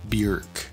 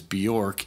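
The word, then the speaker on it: Björk: 1995 album post by bjerk and i say bjerk because it although it is written and so that us native english speakers would tend to say it as bjork in an interview i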